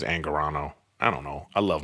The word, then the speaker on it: Angarano: I never say his name right. Is it Angarano? I always say Angriano, but I think it's Angarano.